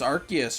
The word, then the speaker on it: Arceus: ability Arceus movie yeah it's it's Arceus right like I mean Arc that's that spells Arc like the Arc Reactor like an arc like